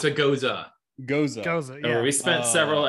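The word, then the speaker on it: Gose: It's a goza. Goza. Yeah. We spent several episodes just trying to figure out how to pronounce that word.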